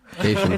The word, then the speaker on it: Kashian: Kashian. It's just cation, like vacation.